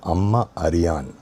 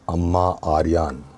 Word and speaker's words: Amma Ariyan: You're not calling your mother in the the It is Amma Ariyan. Short, short, short, short, long. That's the vowel sequence. Always, even when you want to ask somebody how to pronounce something, ask for the vowel sequence. That is what will clarify things for you. So, this film is called Amma Ariyan, not Amma Aryan, as most people are saying.